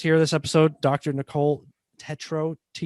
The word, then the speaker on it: Tetreault: Am I saying it right? Can you give it to me if I'm not saying it right? You're saying it great. Perfect. You're Canadian. It's Perfect. French Canadian. You got it. When you get that EAUL thing, you get that in the name here.